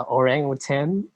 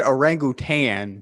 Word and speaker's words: orangutan: You guys say the orangutan, but actually the proper Malay pronunciation is orangutan.